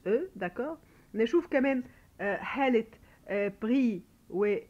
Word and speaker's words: pris: نشوف كمان حاله pris ou déduit, ce sont des participes passés, d'accord. alors des participes passés, là bien sûr on prononce ni S ni T, on les entend pas non plus.